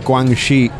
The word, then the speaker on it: Guangxi: I said Guangxi. It's not a J sound, it's a sh sound.